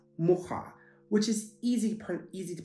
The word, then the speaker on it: mucha: When we think of the word a fly, so just like the insect a fly, in Polish that is pronounced mucha, which is easy to pronounce.